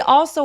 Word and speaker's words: also: He also watched a loud video on his phone without headphones. 무슨 말이죠? 그는 또한 also 올소가 아니라 어 하면서 턱을 길게 벌려 주세요.